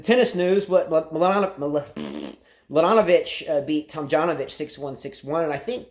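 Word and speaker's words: Tomljanović: I did watch the French girl Mladenovic play Tomljanovic, or I forget how to pronounce that. I know a lot of people say that J is silent. Tomljanovic, the Australian girl.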